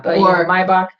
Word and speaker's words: Maybach: provided them with brand these four brand new my box that's spelled Maybach yeah Maybach and I looked them up they're like a